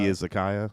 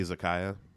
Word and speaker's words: izakaya: Baby Izakaya.